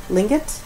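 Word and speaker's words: Tlingit: how do you always say this uh not pronounced t t l i n g t lingot nor uh to toot con and Norwegian ancestry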